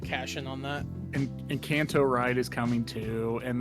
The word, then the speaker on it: Encanto: have you ever watched Encanto Oh I thought it was like enchanto or something like that oh no Encanto is how you pronounce it okay I totally thought